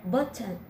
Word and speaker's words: button: First, stop and hold the air in your throat on the glottal T. Then make the N sound. Don't forget to leave a short pause between the glottal T and the N sound. If if you pronounce them too quickly, it'll sound wrong.